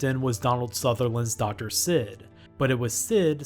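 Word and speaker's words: Cid: airships mughals chocobos bahamuts and a character named sid spelled with a c you might remember a few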